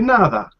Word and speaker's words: nada: person will respond the nada you use like you pronounce d as a english teach sound like because you stick your tongue out to your mouth and say another right